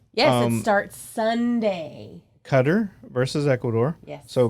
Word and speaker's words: Qatar: Cup's coming up yeah and it starts Sunday cutter versus Ecuador yeah so cutter is the host yes oh my whole life up until like a year ago pronounced it Qatar because it's q-a-t-a-r and I only knew about